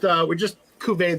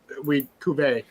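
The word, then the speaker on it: cuvée: Yeah, we just cuvee these two things.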